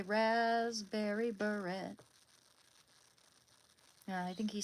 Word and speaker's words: beret: T is silent in French. Okay, then Prince said it wrong. He didn't he say rasberry beret?